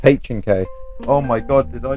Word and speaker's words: H&K: No it's notk it's h K oh my god did I just saying the name wrong oh that's bad it's not ank at all it's a H&K it's H&K MP5 sd6